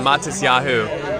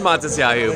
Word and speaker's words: Matisyahu: So in the States, we had a Jewish rapper named Matisyahu. And so I said Matisyahu, but it's Matisyahu.